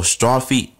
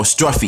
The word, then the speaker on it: Struffy: I still can't pronounce his name, even though I don't know if it says Struffy or Strophy. No, Struffy. Yeah, Struffy.